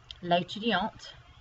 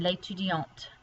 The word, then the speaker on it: l'étudiante: And this one, because it does not have an E on the end, you don't pronounce that T. But here, because you add the E to make it feminine, you do have to pronounce the T.